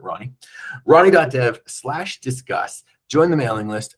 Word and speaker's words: R9Y: Get on ronnie.dev, that's a nominarium for reliability, R9Y, but pronounce it Ronnie.